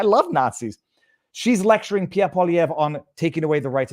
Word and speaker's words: Poilievre: Poilievre, and Karina Gould, maybe learn how to pronounce his last name just out of respect, Pierre Poilievre.